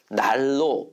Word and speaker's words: 난로: 니은으로 발음합니다 어떻게 됩니까 난로와 같이 한 단어를 이렇게 짜일 수 없어요 짜일 수 없는 한 단어일 때는 리을 리을로 발음해서 날로 발음하는 거예요 근데 의견란처럼 의견하고 란을